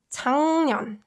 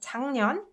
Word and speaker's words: 작년: So rather than enunciating 작년, you can instead say 작년. And 작년 means last year. Last year. 작년. So you can pronounce it like 작년.